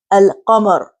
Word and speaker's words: القمر: And for example, in the word al-qamar, so lam here is pronounced alif, lam, qaf.